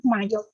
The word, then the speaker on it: MYOB: Memang mesinnya seperti itu, tapi bacanya Mayo.